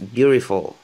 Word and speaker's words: beautiful: Et il y en a qui le prononcent beautiful. C'est comme un D, le T, c'est comme un D et R en même temps. Beautiful, c'est un D en fait, mais qui ressemble à un R.